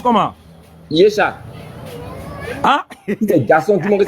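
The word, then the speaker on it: Yeshua: Ça se prononce comment? Yesha.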